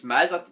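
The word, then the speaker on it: Mads: about making sure nothing I think it's mehz I don't think you pronounce the D this he wasn't running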